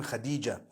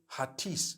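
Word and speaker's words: Hatice: it you know I came across the name Khadijah in Turkish some people spell it h a t i c e I would say hatis for that no it's actually Khadija in Turkish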